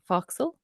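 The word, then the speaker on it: forecastle: part of the ship I believe it's pronounced foxal where the crew and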